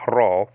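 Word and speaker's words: rho: s-a-r-k-s or sigma alpha raw looks like a p but it's not a p it's an r and then when you're looking at something that looks like a p in greek always pronounce it with a r sound okay like randy ralph roof like that you understand what i'm saying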